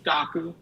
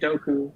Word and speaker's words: Dokku: so I think the original pronunciation he used was daku I never heard this pronunciation until like years later so I like for for background dku is um somewhat of a Heroku clone Heroku being a platform as a service and so in my head I was like Heroku okay doku because there's a D in front which is great um